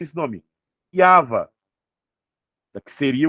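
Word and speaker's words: יהוה: Então, no paleo hebraico, como que eu pronuncio esse nome? Yava. Que seria o quê? A raiz do verbo rava. Yava.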